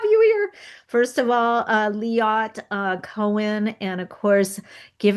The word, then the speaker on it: Liat: Okay, Liat, like fiat.